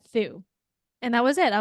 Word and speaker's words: Thu: and even in college I would say th but then when I moved Phoenix Arizona where there's more Vietnamese people and there's a big bigger Vietnamese Community a lot of the people who say my name say and that was when I was like M I was like oh my God like have I been saying my name quote unquote wrong this whole time because